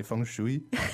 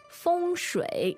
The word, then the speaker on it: 风水: the US, but people didn't know how to pronounce the pinyin, so they would say feng shui. 对. And now, you know, the correct pronunciation should be shui. 风水.